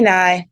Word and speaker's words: Ny: name um fully there but like they don't pronounce it well bright so just say call me Nai just call me Nai and then eventually when